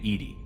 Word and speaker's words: EDI: airlock is a jar why are you named Ed Ed is the phonetic pronunciation of Eed that is an acronym for